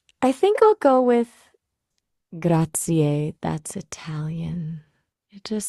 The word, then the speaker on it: grazie: It's a little tricky to convey in just text, but it's like grazie. Emphasis on the first syllable and a bit of a rolling R.